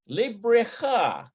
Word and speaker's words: לבריכה: Let's see how that's pronounced. I think it's Bareka. Looks like Bareka. Labreka. Yeah, to the pool. לבריכה. Librecha.